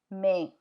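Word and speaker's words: mais: Thea m a i s me means by may but it's with the timea so it'll be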